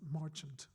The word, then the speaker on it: Marchant: so, and he said, I just want you to know it's pronounced Marchant.